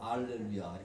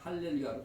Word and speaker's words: 알렐루야: 그러니까 헬라어를 사용하는 사람들은 할렐루야라고 써줘도 뭐로 발음해요? 알렐루야.